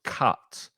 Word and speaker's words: cut: However, the second one is an ah sound. You open your mouth more. It's the same sound as up or cup. So cut, put and cut. The same letter, a different sound.